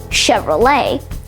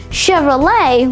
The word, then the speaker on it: Chevrolet: In French, it's common for CH to be pronounced sh, and for ET at the end of words to be pronounced A.